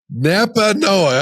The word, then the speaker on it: Nepanoa: Nepanoa. I'll get it eventually. Listen, my memory's as long as a turtle's tail and just as fast. Forgive me for botching that. So I'm like, Nepanoa.